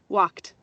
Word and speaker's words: walked: Ese verbo también suena como T cuando le agregó ed, miren, para formar su pasado. Walked.